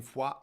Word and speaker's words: Foix: I stayed in Foix overnight.